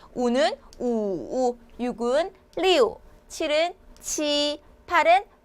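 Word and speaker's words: 七: 알아두시고 자 7로 넘어갈게요 7은 우리나라 바른 거 굉장히 비슷해요 발음이 치 하시면 되는데 7하고 비슷하죠 자 이래서 손동작도 치라고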